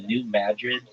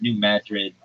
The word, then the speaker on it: New Madrid: like uh well it's New Madrid uh Missouri. And if you're like, why are you calling it Madrid and not Madrid? It's not pronounced like Madrid, like in Spain.